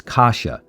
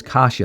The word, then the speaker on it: Kasia: I can find it, this is a name of Polish origin, and the proper pronunciation is Kasia. That's how it's supposed to be pronounced, is Kasia, as far as I understand.